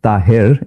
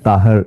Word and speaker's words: Tahir: It's Tahir in Urdu and Taher is in Arabic.